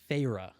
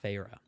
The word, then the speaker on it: Feyre: So it begins with our protagonist, Feyre, I believe is how you pronounce it. Feyre.